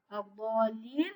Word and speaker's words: الضالين: الضالين, je ne prononce pas al-lam parce que c'est une lam shamsiyya, c'est-à-dire il y a une shadda après al-lam.